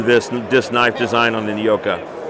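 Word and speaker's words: Joka: That's J-O-K-A, pronounced Yoka. That means serpent.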